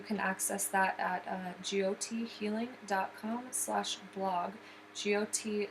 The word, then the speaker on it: Jyoti: GOT is spelled JYOTI, and it is a Sanskrit word for light.